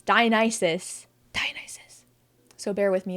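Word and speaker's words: Dionysus: into the Habit in my life of saying dianis I know cuz I've said it multiple times in past videos and I really need to break the Habit because it's diis diis so bear with me if I accidentally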